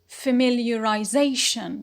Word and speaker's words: familiarization: it is the word familiarization familiarization so here we have two stresses one is the primary stress which is on zay on the p naught because of the ion suffix or the line rule but here we have